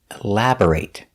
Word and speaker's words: elaborate: take a closer look we pronounce the word elaborate with a long a sound when it's a verb the pronation elaborate elaborate the stress is on the second syllable elaborate b o r is pronounced bur not bore elabor or but bur elabor elaborate elaborate is the